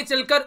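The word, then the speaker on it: Chile: है ये है चिले, या फिर इसको कई बार चिली भी आप लोग बोलते हैं, तो इसका याद रखिएगा, इसका नाम प्रोनाउंसिएट कई तरीके से इसको कर लेते हैं लोग, नॉर्मली इसको चिले बोलते हैं।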